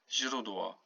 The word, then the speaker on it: źródło: Źródło, okay? Źródło. Source. Notice here the U and the L with W with the dash is W.